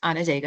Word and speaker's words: Onondaga: You did correctly pronounce Onondaga, Yay.